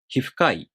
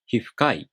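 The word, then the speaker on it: 皮膚科医: In many compound nouns that have 1 or 2 moras in their following part, the accent falls on the last mora of the first noun. For example, hifukai.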